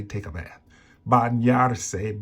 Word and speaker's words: bañarse: Bañarse, bañarse. So to help you understand how to say it, this is English, bañarse.